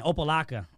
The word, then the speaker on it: Opa-locka: to boxing yeah very cool very cool and opalaca is that pronounced correctly yeah it's a tough one man